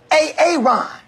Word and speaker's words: Aaron: I said it like four times, so why didn't you say it the first time I said A-A-Ron? Because it's pronounced Aaron.